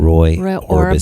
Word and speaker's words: Orbison: Roy Orbison.